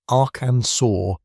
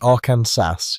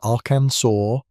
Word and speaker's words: Arkansas: The name comes from a French interpretation of a Native American word, and the proper pronunciation reflects that French heritage. So they made it official. The name is Aransur, and that is how it shall be spoken.